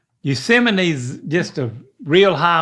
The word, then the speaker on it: Yosemite: Yosemite You nailed it.